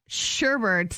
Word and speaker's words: sherbet: to sound super uneducated I will stand up for all the sherbet pronouncers because it is sheret the amount of people